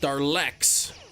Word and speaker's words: Daleks: Pronounced Darlex. Okay. Darlex. Then how come you didn't put an R in it the first time?